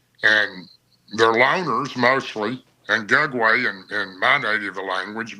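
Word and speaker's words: Gugwe: your typical Bigfoot well it's actually pronounced gug way g g u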